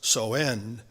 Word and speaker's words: Samhain: what we know as Halloween, called Samhain, actually pronounced Soen.